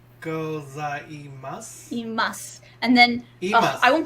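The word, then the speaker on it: ございます: Go, like go. Za. Goza. I. Gozai. Mas. Gozaimasu.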